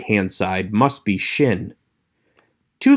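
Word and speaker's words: שׁין: is sin pronounced s the one with the dot over the right hand side is shin pronounced shh a good way to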